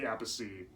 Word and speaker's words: Appice: But yeah, Bill Ward and Vinnie Apasey. Vinnie Apasey, of course, was the younger brother of Carmine Appice. Yeah, they pronounce their last names different.